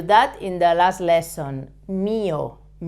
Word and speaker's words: mío: Mío, okay? With an accent on the I, the Spanish I.